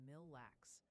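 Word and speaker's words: Mille Lacs: And a little birdie, for several hundred chatters, mentioned Aitken is more like Aitken, and Mill Lax is Mill Lax.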